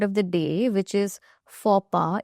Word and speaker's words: faux pas: And this is the word of the day, which is faux pas. It's French, hence the pronunciation.